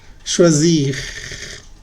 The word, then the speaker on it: choisir: Sí se pronuncia. Se dice finir, agir, choisir. Pronuncias bien la R al final.